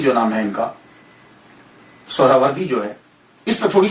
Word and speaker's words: سہروردی: بڑی توجہ دینی ہے۔ ہم لوگ اکثر بول دیتے ہیں سہروردی سہروردی، یہ اکثر ہم بولتے رہتے ہیں۔ میں غلط نہیں کہتا، لیکن ذہن میں یہ تو ہونا چاہیے نا کہ اصل پروننسیشن، اصل تلفظ کیا ہے۔ اصل میں یہ سہراوردی یا تو نسبتی ہے، تو لفظ جو ہے وہ سہراورد ہے، سہراورد، سین کے اوپر پیش، پہلی ہا، یہ ہا